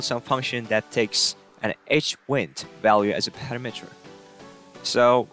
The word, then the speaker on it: HWND: their handlers and the data type for window handles is hwnd this guy and most of the developers pronounce it as h-wind window handles are returned